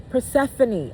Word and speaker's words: Persephone: Persephanie? Perse- Persephone.